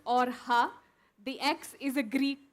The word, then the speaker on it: Orxa: the co-founders of Ora energies and yes it's pronounced orha the ex is a Greek Kai and it's